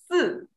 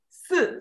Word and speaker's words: 四: Okay, okay, let's say together, number four is 四, 四, 四, yes. Pay attention, when you see S, I, you want to say C, right? Because I is E, but this E is quiet, is silent here.